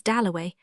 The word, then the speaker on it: Dalloway: Somebody had brought him over, and Clarissa got his name wrong. She introduced him to everybody as Wickham. At last he said, "My name is Doway."